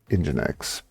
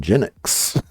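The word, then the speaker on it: nginx: to we'll just pick engine X which for the longest time I pronounced as en enics so there you go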